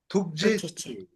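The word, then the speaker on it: ཐུགས་རྗེ་ཆེ།: Tukjeche.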